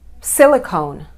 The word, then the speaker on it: silicon: But we stress the first is silicon. Silicon. The first word is silicone, and the second word is silicon. Listen to the difference. Silicone, silicon.